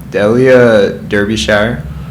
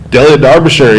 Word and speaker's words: Delia Derbyshire: Uh, I might butcher the name here, but whatever. Delia Derby. Delia Darbisher. Yeah.